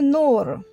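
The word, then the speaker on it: نور: Parce que sur nour, on ne l'entend pas le waw. Mais il est composé quand même avec.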